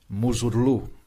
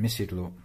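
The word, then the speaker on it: Mısırlı: There we have the Turkish pronunciation, Muzurlu, rather than Missi Lulu.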